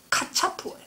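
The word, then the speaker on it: קצף: 예, 여기 통분하다고 하는 이 케차프는 히브리어로는 카차프예요. 그러니까 아람어와 히브리어가 비슷한 발음들이 들어있어요.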